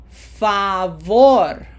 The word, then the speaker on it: favor: Okay, so now we are going to put pronunciation emphasis in that syllable number 1, or the last syllable of the word, okay?